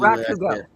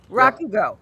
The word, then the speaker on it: Rakugo: Is it Rakugo? Yeah. Emphasis on the first syllable. Rakugo is usually Rakugo. Rakugo.